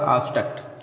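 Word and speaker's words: obstruct: अब दोस्तों इसके कुछ एक्सेप्शन भी हैं, बी के बाद टी आने पर भी साइलेंट नहीं होता, तो उसको आप याद करिए। केवल दो ही शब्द हैं जो इसके अपवाद में आते हैं, एक है ऑब्टेन माने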